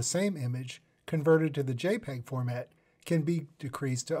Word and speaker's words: JPEG: JPG, or JPEG, pronounced JPEG, stands for Joint Photographic